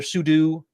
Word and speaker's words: sudo: So if you're not familiar with what sudo is, or sudo, people pronounce it different ways.